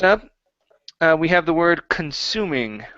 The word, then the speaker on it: consuming: Much better with consuming, pronouncing that kun.